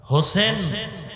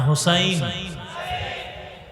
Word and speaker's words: হোসাইন: হোসেন না হোসাইন? আমাদের দুঃখ যে অনেক মানুষ নামটাও সুন্দর করে উচ্চারণ করে না।